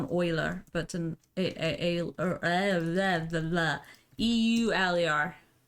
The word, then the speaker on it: Euler: pronounce differently than me elder euler wheeler owler the correct pronunciation is euler spoiler okay is it